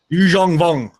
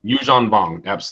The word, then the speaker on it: Yuuzhan Vong: Yuuzhan Vong. Yuuzhan Vong. There it is. There's the pronunciation I needed.